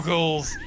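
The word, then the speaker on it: Zeugles: Zoogles.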